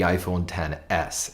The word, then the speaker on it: iPhone XS: year will be the iPhone 10s and that is awesome if you spell it how it's written XS yes it's an XS